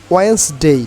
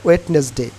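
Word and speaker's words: Wednesday: Saturday Sunday Monday টিউসডেন ওয়েনসডে নট ওয়েটনেসডে ওয়েনসডে Thursday Friday again Saturday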